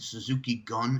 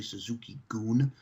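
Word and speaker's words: Suzuki-gun: but it's Hapon, and Suzuki Gun is actually Suzuki Goon.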